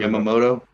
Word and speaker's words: Yamamoto: I'm going to screw Yamamoto. Yamamoto uh he did pitch out of his mind.